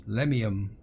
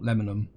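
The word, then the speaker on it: Lemmium: It's Lemium, not Lemonum. I think Lemonum is because I see lemon and I want to say lemon, where it's actually Lemium.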